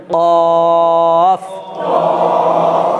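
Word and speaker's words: قاف: প্রথমে আওয়াজটাকে বের করতে হবে, প্রথমে আওয়াজটাকে বের করতে হবে, দেখেন কফ। হ্যাঁ প্রথমে একবার আওয়াজটাকে বের করে নিতে হবে, তারপর আওয়াজ আর বার করার দরকার নেই। এই দেখেন কফ, কফ, কফ, কফ, কফ, কফ।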